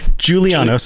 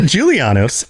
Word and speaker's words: Julianos: up so here we go giulianis os julia giuliano's i'm gonna mispronounce it right at the beginning nailed it already problematic nailed it julianos aedric god of wisdom and logic is one